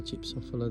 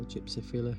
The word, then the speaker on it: gypsophila: And then we've got more of the gypsophila there that you can see, or gypsophila, depends how you say it.